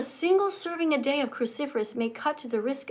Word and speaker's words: cruciferous: Remember that you have to eat cruciferous vegetables every day. A cruciferous example is could be kale, broccoli, or look here, cauliflower. All right. Cruciferous. Can you say that? Cruciferous. Cruciferous. Cruciferous. Four syllables.